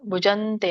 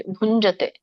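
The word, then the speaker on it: ಭುಂಜತೇ: ಹರೇ ಕೃಷ್ಣ ಮಾತಾಜಿ ನೀವು ಅದನ್ನ ತಪ್ಪೇ ಹೇಳಿದ್ರಿ ಅಲ್ಲಿ ಭುಜಂತೆ ಅಂತ ಹೇಳಿದ್ರಿ ಗುಂಜತೆ ಹರೇ ಕೃಷ್ಣ ಮಾತಾಜಿ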